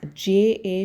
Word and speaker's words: ja: Yeah, J-A should be pronounced like Y-A, but you have to be very careful. You have to put only J-A.